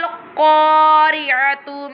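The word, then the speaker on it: القارعة: al-qari'atu mal-qari'ah. This one qaf always pronounced with the thicker voice.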